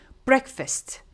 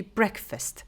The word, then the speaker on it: breakfast: We need to make the sound e instead of a. So we say breakfast, not breakfast. I hear generally break, but it should be breakfast.